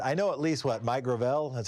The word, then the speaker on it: Gravel: I know at least Mike Gravel, that's how he pronounces his name.